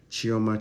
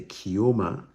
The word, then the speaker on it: Chioma: Chioma Chichi. See the way I pronounce Chioma's name? Chioma Chichi. I didn't say Kioma Kiki. I said Chioma Chichi.